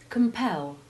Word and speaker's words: compel: suffix in these cases they always have the stress on the syllable pel in all forms of the verb and its derivatives and the e always has the short e1 sound listen carefully as we